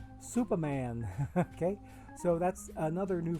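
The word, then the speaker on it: S00p4M4n: another one if I if I take the numbers and turn them into letters uh this person's name would be pronounced Superman S 0 0 p 4 M 4 n Superman okay so that's another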